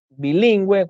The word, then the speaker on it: bilingüe: Cuando la U debe ser pronunciada en las sílabas we, wi, por ejemplo, tenemos pingüino, paragüero, guiro, lengüetazo, lingüística, monolingüe, que es cuando sabe un solo idioma, nicaragüense, bilingüe, cuando sabe dos idiomas,